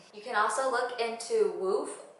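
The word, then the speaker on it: WWOOF: can also look into woof which is spelt w-w-o-o-f i'll also link it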